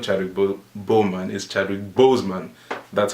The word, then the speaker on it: Chadwick Boseman: : Chadwick woman is not terrible Bowman is Chadwick Boseman that's how his name is actually pronounced but yeah especially his like his attire